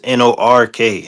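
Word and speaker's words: Newark: They say n e w a r k but it's it's the way locals say it is n o r k.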